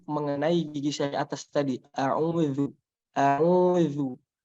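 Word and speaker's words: أعوذ: A'udzu, a'udzu. Nah, hati-hati juga jangan sampai zal ini dibaca tebal. A'udzu misalkan. Nah, jangan sampai. Zal itu sifatnya tipis.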